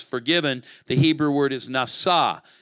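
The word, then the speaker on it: נשא: The Hebrew word is nasa. It rhymes in Hebrew. It doesn't work in English, but pesha nasa. You hear it?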